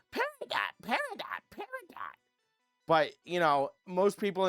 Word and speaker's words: peridot: It's pronounced peridot, it can be peridot, it can be whatever. Steven Universe can suck my fucking nuts, because they all say, peridot, peridot, peridot.